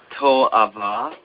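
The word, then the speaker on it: תועבה: And the word abomination here in Hebrew is just to'ava, and it refers to something that is a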